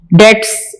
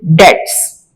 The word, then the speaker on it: debts: डेट्स, इसका pronunciation मैंने आपको बताया है, बी को साइलेंट रखेंगे, टी को प्रोनाउंस करेंगे, डेट्स।